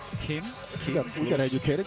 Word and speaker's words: Kim: It is here in the states and western cultures you would hit it Kim a hard K but in Korea it's more of a in between pronunciation a K and a G. Kim he got we got